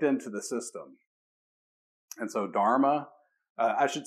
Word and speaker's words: dharma: have r's in it when you look at buddhist pronunciation of these terms they often take out the r's so they'll say dhamma instead of dharma right so it's like